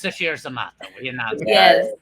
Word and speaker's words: Sasheer Zamata: Although I know it's pronounced Sasheer Zamata.